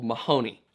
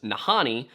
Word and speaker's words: Mahoney: him this is uh presented by another Explorer another Anthropologist figure as nahani but he says in his experience speaking to these people they pronounced it with an M anyway he describes them